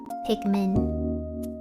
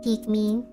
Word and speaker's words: Pikmin: Pikmin. Pikmin.